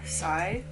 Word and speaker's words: Tsai: i've been following uh rowena sai that's how you pronounce her last name for a while and